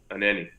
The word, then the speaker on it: Anenih: Okay, and I think, is it Anenih or how do you say it? Just so I don't butcher it. Anenih.